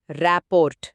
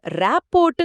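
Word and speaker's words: rapport: ஒன்பதாவது வார்த்தை ராப்போர்ட் இது ஒரு நவுன். இதை சொல்லும்போது ராப்போட்ன்னு சொல்லக்கூடாது. ராப்போ அப்படின்னுதான் சொல்லணும் சரியா? மிக சரியான உச்சரிப்பு குறிப்பு. டி வந்து சைலன்ட்.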